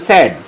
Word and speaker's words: said: আমি কিন্তু স্যাড বলছি, তাই না? আমরা বলি সেইড না, উচ্চারণটা হচ্ছে স্যাড।